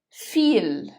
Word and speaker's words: viel: The last diphthong is the letter combination I and E. It is pronounced as I. Zum Beispiel, for example, das Bier, die Biere, das Bier, die Biere. Viel, viel.